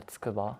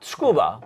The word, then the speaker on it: Tsukuba: Yeah, Tsukuba. Tsukuba. I'd like to pronounce it properly. Tsukuba, here in Japan.